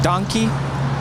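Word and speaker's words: dankie: But in Afrikaans, it's more like donkey. Like donkey.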